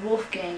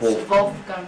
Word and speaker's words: Wolfgang: It's pronounced Wolfgang in English, right. But it's Wolfgang in German.